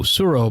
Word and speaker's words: Tsuro: this week i introduced my father-in-law to suro t-s-u-r-o suro by uh calliope i think is how you pronounce it games and it's a abstract tile